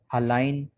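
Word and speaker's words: align: N आ रहा है, तो G के बाद जब कभी भी N आ जाए तो G साइलेंट होगा।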